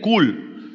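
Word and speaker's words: כול: La palabra en el hebreo, hermanos, para sustentar es una palabra que es K-U-L, kul. Algunos dicen que se pronuncia como kul.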